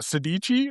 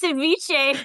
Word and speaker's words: ceviche: Sedici? Is that how you say it?" I think it's ceviche.